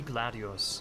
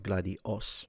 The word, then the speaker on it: gladius: Key to their kit were the gladius, a short thrusting sword. Gladius, not gladios.